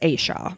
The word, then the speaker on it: Asha: It's as ha is how it's spelled, but it's Asa.